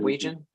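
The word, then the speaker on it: Weijin: Thomason uh my name is how do you spell that uh w-e-i-j-i-n -w-e-i-j-i-n am I saying that right region oh yes that's right that's right okay welcome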